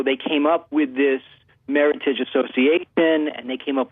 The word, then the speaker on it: Meritage: mean first of all Meritage just rhymes with Heritage that's the easiest way to remember it oh yeah and it's